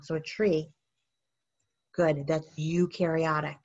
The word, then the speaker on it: eukaryotic: a tree good that's eukaryotic right because everything is eukaryotic except bacteria number five a cell is observed under the microscope and has a nucleus it does have a nucleus you rhymes with do number six a cell